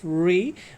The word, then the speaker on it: wry: No, and we have here, it's WRY, it is pronounced as re, which means disgusted, right?